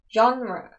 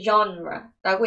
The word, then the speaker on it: genre: your favorite genra라고 물어봤습니다 jra 장르라는 뜻입니다 자 장르로 더 익숙한데 jra라고 읽는 거 잊지 마시고 답변 보겠습니다 I watch